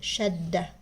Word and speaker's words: shadda: and it's basically shadda, like pronouncing the letter twice, one with no vowel and one with a vowel, like this word shadda. So I didn't just say shadda, I said shadda.